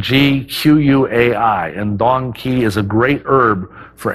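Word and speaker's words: dong quai: I can't forget its female counterpart which is Don key that's spelled D o n qu Ai and Dong key is a great herb for any female of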